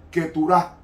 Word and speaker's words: Keturah: con su tercera esposa llamada Setura, que en hebreo se pronuncia Keturah.